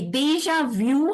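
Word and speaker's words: déjà vu: change the pronunciation and I would like to just pronounce French the French way and see if you can copy me deja vu it is view not vu okay okay okay deja vu has a very different meaning in French and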